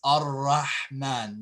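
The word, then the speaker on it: الرحمن: Okay, but if you just say it by itself and you stop here and you start here, it's Ar-Rahman. You give it a fatha.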